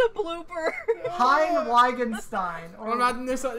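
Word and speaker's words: Heine Wittgenstein: Okay, so it's pronounced Hein Wittgenstein, and it's Gleinreich.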